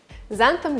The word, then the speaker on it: xanthan: more in the future xanthan gum pronounced with z not x and why i don't